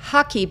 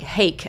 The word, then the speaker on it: hake: going to use this brush is called a hoaky brush it spelled like hake I used to say it that way h AK and I just like